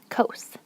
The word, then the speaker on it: cos: cosine in the abbreviation c-o-s you say cos like coast but without the t cos or like a roller coaster and then for tangent